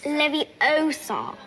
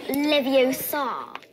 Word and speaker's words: Leviosa: someone's eye out besides you're saying it wrong it's Leviosa not Leviosa foreign barbaric that's Wizard's Chest